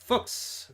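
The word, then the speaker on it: Fuchs: Patrick uh, fuks because according to this article, it pronounced like fuks fuks. Fuks, not uh, not the other not the other word.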